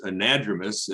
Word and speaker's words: anadromous: thing i will correct rebecca on is the pronunciation it's anadromous and diadromous um but that those are common